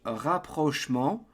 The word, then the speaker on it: rapprochement: And in English, it's rapprochement. In French, rapprochement.